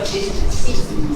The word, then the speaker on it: business: The I is not usually silent. It's usually pronounced, except in the word business.